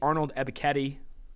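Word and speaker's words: Arnold Ebiketie: gotta go you have to go penn state's arnold ebiketti that's how you pronounce it i asked him himself he's a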